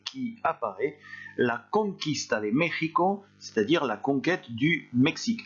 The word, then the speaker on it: México: En dehors de ça, en dehors des noms propres au Mexique, le X se prononce X, donc petite particularité.